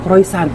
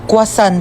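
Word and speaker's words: croissant: Croisant daw. Croyant? Ah kwasant po.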